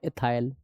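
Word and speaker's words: ethyl: के पीछे बाय एल तो नाम हो गया इथाइल या कुछ लोग इसको एथिल भी पढ़ते हैं। एथिल हिंदी वाले प्रोनाउंसिएशन का डिफरेंस है।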